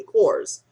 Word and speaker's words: Korres: was reviewing Korres products I call the course because I really thought that that's what it was but then I watched a video I think from Korres and that's the way they pronounce it correct so onward and upward